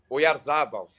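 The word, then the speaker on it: Oyarzabal: O Yarzabal.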